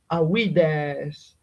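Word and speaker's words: Ἀΐδης: Mm, Now, this which is not a diphthong, is a hiatus. So it's a sequence of two vowels, each of them forming a different syllable. So we can easily assume that this form actually, when the gamma was still pronounced, was pronounced awides.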